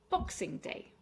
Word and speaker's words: Boxing Day: Boxing Day. So this is the day after Christmas Day. And it has three syllables. Stress on the box.